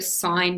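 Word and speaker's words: sine: called the sign ratio so s i n e and it compares the length of the opposite side to the length of the hypotenuse so to write that abbreviated so shorter we write s i n so we just dropped the E off but we still pronounce it sign so s of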